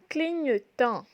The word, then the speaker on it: clignotant: Un clignotant.